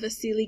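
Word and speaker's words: Wassily: We can also look at the progression of Vasily Kandinsky. And yeah, I said his name right. I know it's a W. That's how it's said.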